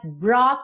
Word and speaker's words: brought: The slip that brought me to my knees. Brought, tem um GH mudo aí, então, ó, brought, não se preocupa, tá?